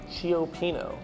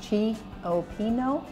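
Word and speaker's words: cioppino: It's a Chiopino. Chiopino. Look at that. How many syllables? Chiopino? Oh, that could be like four. Chiopino. Four. Right? Yeah, four. Okay.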